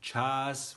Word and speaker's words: čas: So let's start with the letter Č, which in English would be pronounced CH, like for an instance the word chair or chess. So, I also have a Slovenian word for you, čas, which is English time.